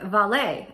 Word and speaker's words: Vale: could go with a company like valet i'm not trying to be fancy that's literally how it's pronounced their stock is currently